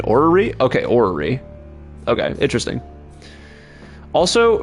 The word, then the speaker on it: orrery: You're right with your first pronunciation, orrery.